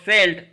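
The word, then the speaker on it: Seitz: So Seltz, the Z is silent, Seltz filter.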